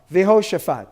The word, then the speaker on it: Jehoshaphat: So how are you going to pronounce the word? Jehoshaphat.